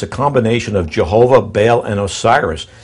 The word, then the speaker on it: Baal: And then Baal, or he says Bel, B-E-L, or Baal, he spells it B-A-A-L, how